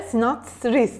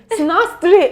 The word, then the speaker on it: sinastri: sadece Aslında ilişkiler değil sinis de sinatr değil mi sinastri Evet böyle telaffuz dolayı Burada sadece ilişkileriniz